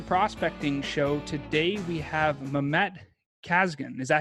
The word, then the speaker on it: Mehmet Kazgan: Today we have Mehmet Kazgan.